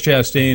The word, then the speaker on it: Chastain: It's Chastain. It rhymes. Chastain is an old local person.